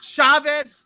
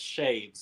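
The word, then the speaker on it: Chaves: it's not Chavez. It's not Chavez. I finally looked it up before I got on here and it's Shaves, I think. Great. I have to say Shaves now.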